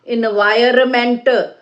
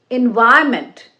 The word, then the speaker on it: environment: It's not environment. It is environment.